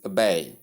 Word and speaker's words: obey: You simply call it obey. Obey. Obey. That is the schwa sound with bay combined. So stressing the first syllable is wrong as in this case. Tip stress is on the second syllable and ba sounds like ba.